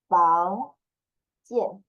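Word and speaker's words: 房建: Pronunciation would be like jian. Jian. Fang jian.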